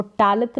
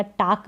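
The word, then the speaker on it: talk: बात करना, किसी से बात करते हैं तो टॉक करते हैं, तो यहाँ पर इसको टालक नहीं पढ़ेंगे, टॉक पढ़ेंगे, या टाक भी नहीं पढ़ेंगे, टॉक इसका सही उच्चारण है, एल यहाँ पर साइलेंट है।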